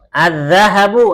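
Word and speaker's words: الذهب: Az-zahabu, apa zahab? Emas. Az-zahab itu emas. Perhatikan haknya nggak panjang ya. Az-zahab, haknya nggak panjang. Kalau haknya dipanjangkan begini, az-zahabu itu artinya pergi. Az-zahab itu artinya pergi.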